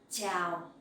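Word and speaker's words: chào: speaks so scene and the sound in ciao you can pronounce like in the champion ciao ciao uh that is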